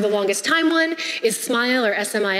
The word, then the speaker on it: SMIL: been around for the longest time one is smile or SMI l I don't know why it's pronounced smile because there's no II but whatever its kind